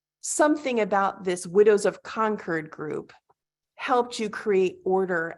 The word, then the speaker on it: Concord: it's the widows of Concord right am I pronouncing conquered correctly conquered correct conquered and that support group is what